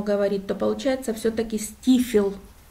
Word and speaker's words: Steephill: и хочу вам сегодня показать это называется бухта стифел или бухта степ хен крутой холм вот по-русски если по нашему говорить то получается все таки стифел а пишется степ hello надо спускаться туда вниз